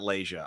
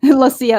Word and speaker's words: Lucia: It's not Lasia. I always say that. It's Lucia. That's why there's a little Lucia. accent. Okay. Yeah, 3 syllables.